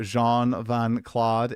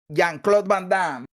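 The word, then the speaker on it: Jean-Claude Van Damme: I have not seen The Fifth Element and I I still don't know who Jean Vancla is. I think that's how you say his name though. JeanClaude Vanam.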